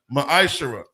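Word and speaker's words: מעשר: vers 8-10 means 10 in the Hebrew it's pronounced maish 10% of every penny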